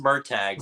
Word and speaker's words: Murtagh: the movie it's pronounced Murtaugh. So it should be Murtaugh. I think it's pronounced Murtaugh in the movie, so they probably pulled the Last Airbender with the pronunciation there.